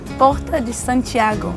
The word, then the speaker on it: Porta de Santiago: And we speak Portuguese, so we would say Porta de Santiago.